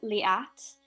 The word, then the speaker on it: Liat: time to hear me my name is pronounced liat i live on columbia street here in cambridge um i've always been very proud of my name it's an israeli name it was the most